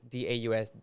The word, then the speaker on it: Daus: I or said something like Dose. that. Or Dose. Dose. Yeah. It's because a lot of people mispronounce your name, huh?